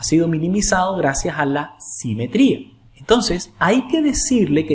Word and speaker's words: simetría: Acento en la I.